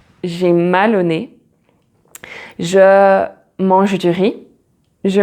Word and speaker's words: nez: So the letter Z is most of the time silent, like for example, j'ai mal au nez, j'ai mal au nez.